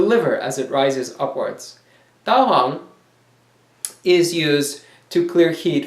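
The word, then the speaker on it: 大黄: Daehwang is Da Huang in Chinese, Daehwang in Korean.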